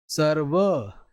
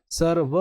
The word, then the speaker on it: सर्व: जिस भी वर्ण के ऊपर लगा हुआ होता है उससे पहले इसका उच्चारण होता है। जैसे आशीर्वाद कर्म सर्व ये ध्यान रखना सर्व। व में मैं अ जोड़ के बोल रहा हूं।